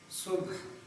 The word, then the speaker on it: صبح: کا عنوان ہے صبح۔ اس لفظ کے تلفظ کے بارے میں یہ وضاحت مناسب ہے کہ صاد کے اوپر پیش ہے اور بے اور ہے یہ دونوں ساکن ہیں، تو اس لفظ کو ایسے پڑھا جائے گا صبح۔ اقبال کہتے ہیں